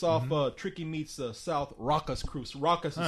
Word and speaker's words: Rakkas: It's off Tricky Meets South Raucous Crew. So Raucous is spelled Rakkas.